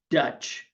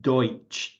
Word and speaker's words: Deutsch: popular but wrong name, Pennsylvania Dutch, which is a mispronunciation of Deutsch, D-E-U-S-C-H, or German, Pennsylvania German.